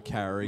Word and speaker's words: Carey: CrossFit Laddie Stone also said Mariah Carey. Good answer. Very good. Yeah, apparently it rhymes with Harry.